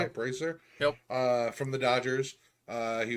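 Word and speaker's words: Brasier: Brazier?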